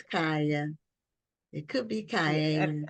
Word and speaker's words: Kaia: Oh, Kaia. Kaia. Kaia. Kaia. Mhm. Okay, so it was 3 syllables.